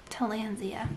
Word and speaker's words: Tillandsia: And then, how did I pronounce this one? Tillandsia? Tillandsia.